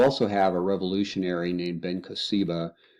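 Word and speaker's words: Bar Kokhba: have a revolutionary named Ben CBA his name sometimes pronounce pronounced baroka he led a revolution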